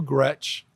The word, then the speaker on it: Gretch: So, I'm named after both my grandmothers, Gretchen and Esther. Right. Grandma Gretchen always said, "Never let anyone call you Gretch. It is not attractive. It rhymes with wretch."